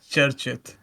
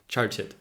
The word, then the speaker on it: Charchit: Sorry if I'm mispronouncing it. Did I say it correctly? Yeah, it's Charchit. Charchit.